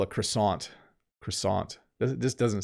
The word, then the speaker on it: croissant: flaky here is sadly i have to pronounce this in the way english speakers pronounce it this in canada is called a croissant i apologize to all my french speaking listeners but if croissant is very very flaky